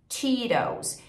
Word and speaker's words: Cheetos: Muitas vezes no inglês americano, quando a gente tem um T no meio da palavra, ele é reduzido para um R.